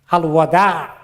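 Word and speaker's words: الوداع: বিদায় কথাটা বাংলায়, আরবিতে বিদায়টা আছে কিন্তু উচ্চারণ অন্যরকম, আল ওয়াদা, ওয়াদা, ওয়াদা হয়ে গেছে বিদায়। হ্যাঁ, ওয়াদা আইন আছে শেষে, বাংলাতে আইন নাই।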